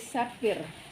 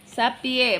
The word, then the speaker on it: Sapir: Ini dari Sapir. Sapir. Sapie bukan Bacanya sapir kan ya, ada R-nya. Sapir.